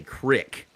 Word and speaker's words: creek: I've heard people in Montana say crick, instead of creek.